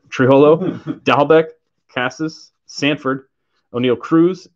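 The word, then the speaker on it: Trammell: miss them paris uh this is pronounced trimmel in case anyone was curious i saw a video he said it triholo dalbeck cassis sanford o'neil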